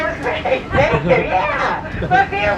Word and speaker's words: Revere: Revere rhymes with here.